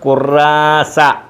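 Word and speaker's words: كراسة: ഖുറാസ. ഈ താഇന് ഉച്ചാരണം കൊടുക്കത്തില്ല. ഖുറാസ ഖുറാസ.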